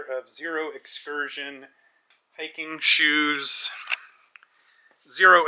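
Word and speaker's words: Xero: Zero is spelled with an X, X-E-R-O.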